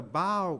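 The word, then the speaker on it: bough: But in that rockabye baby, when the bow breaks, that's B-O-U-G-H. But it's not pronounced buff, it's pronounced bow.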